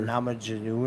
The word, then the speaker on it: Namajunas: Namajunas.